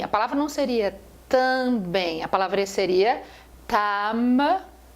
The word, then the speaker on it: também: nós chamamos de dígrafos também quando você fala também também você não pronuncia o m eu não falei tamb